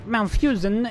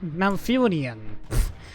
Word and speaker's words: Malfurion: Feel like I'm Malfusian in um Malfurion. I don't know why I'm pronouncing his name wrong.